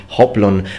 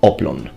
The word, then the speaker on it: hoplon: the h and say hoplon but if you're using greek then the h is mute in that case and it's not pronounced it's pronounced oblon but in greece there